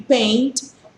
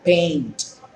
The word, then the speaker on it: paint: la vocal e y Paint es pintar Sí el programa mit del computador que más que uno de ustedes lo utiliza Entonces ya no van a pronunciar Pain sino Paint Paint significa pintar y se